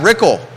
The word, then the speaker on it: Rickel: Pruitt TJ fatally Brad rickel rhymes with pickle current Board of Supervisors